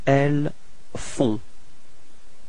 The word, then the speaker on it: elles font: Okay, and then feminine form, elles font. Same thing, on, on, and then final T is not pronounced.